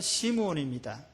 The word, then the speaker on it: 시므온: 베드로가 유대식으로 발음하면 이름을 얘기를 하면 시몬이죠. 시몬. 근데 히브리식으로 발음하면 시므온입니다.